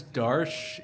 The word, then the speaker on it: Darsh: My name's Darsh. It rhymes with harsh.